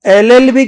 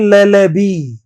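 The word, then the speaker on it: LLB: तो वो लेबी नहीं होगा दोस्तों। क्या होगा ये? एलएलबी होगा। क्या होगा? एलएलबी। इसको ले ले भी मत बोल देना। कई तो इसको लोग गलत बोलने में लॉ बोल देते हैं। लॉ लॉ होता है। लॉ कर रहे हैं। कानून की पढ़ाई कर रहे हैं। ही is doing law. तो लॉ होता है। लॉ नहीं होता। एलएलबी होता है। ले ले भी नहीं होता।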